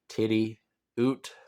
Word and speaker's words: Tidioute: into this thing about how to pronounce tidiot if you didn't know it's titty oot um yeah but that's